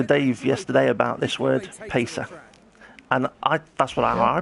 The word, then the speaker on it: Pace: Well, I was talking to Dave yesterday about this word Pesa, and that's what I pronounced it, but he pronounced it Pache.